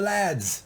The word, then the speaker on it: lad: come on help the lads I like the word I wish Americans to use learn lad you know sounds like lid it rhymes with lid you know I always